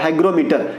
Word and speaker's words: हाइग्रोमीटर: हाइग्रोमीटर। ये इससे और इसके प्रोनाउंसिएशन में काफी सारा जो है आप समानता पाएंगे, हाइड्रोमीटर और हाइग्रोमीटर। हाइड्रोमीटर में सिर्फ ड्रॉ का इस्तेमाल किया गया है, ग्रो इसमें किया गया है।